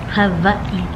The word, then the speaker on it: Hawaii: Hawaii. The W is pronounced as a V.